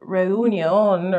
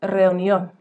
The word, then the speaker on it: reunión: You may be tempted to say something like reunion or reunión or something like that, but it's reunión. Reunión.